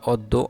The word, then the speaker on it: অদ্য: আমরা ইন্টারমিডিয়েটে যখন পড়ছিলাম তখন হচ্ছে আমাদের এরকম একটা নিয়ম ছিল যে অ বর্ণের পরে যদি পরের বর্ণের সাথে জ ফালা যুক্ত থাকে, তাহলে হচ্ছে অ এর উচ্চারণ ও এর মতো হয়ে থাকে।